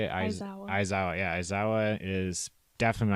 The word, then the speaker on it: Aizawa: Aizawa.